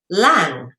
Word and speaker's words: lang: but this is interesting Lang is pronounced Lang all right like your breathing lung okay so lung all